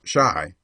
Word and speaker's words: chi: boy and printer beau c-h-i pronounced shy by the way is the argot for chicago a favorite device of